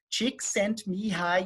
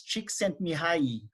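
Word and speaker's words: Csíkszentmihályi: for us to understand how we should pronounce his name so chick sent me high e right and i so we have some people from hungary here i hope i'm pronouncing his name correctly but it's cheek sent me high right or very close to that hopefully then i got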